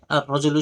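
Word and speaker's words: الرجل: তো র এটা এর শুরুতে যদি আলিফ লাম আসে এটা 13টি হরফের মধ্যে থেকে একটি, তো লামটা উচ্চারণ হবে না। তো রটা তাসদীদ যুক্ত রূপে উচ্চারিত হবে।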